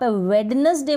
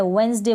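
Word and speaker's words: Wednesday: और कुछ स्पेलिंग्स है, जैसे कि आप वेडनेसडे बोलते हैं ना, वेडनेसडे, तो गलत हो जाएगा। यहाँ पर भी क्या है? डी साइलेंट है, वेंसडे बोलेंगे। आप क्या प्रोनाउंस करेंगे? वेंसडे।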